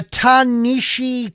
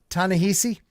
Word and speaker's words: Ta-Nehisi: that right there um so yeah the uh tanishi coats is that how you say his name tanishi tanahisi yeah okay tanehisi sorry bro don't get mad uh alleged leaks